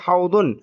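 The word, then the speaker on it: حوض: বিল মাসজিদি হাউদুন হাউদুন এখানে যে দকে আমি য পড়ার পক্ষপাতী না। আমি দকে দদ হিসেবেই উচ্চারণ করার পক্ষপাতী। আপনি বাংলায় বলেন আর আরবিতে বলেন। আমরা বাংলায় যেমন ওযু বলি। আমি ওযদু বলতে অভ্যস্ত এবং এটা এইটার আর কি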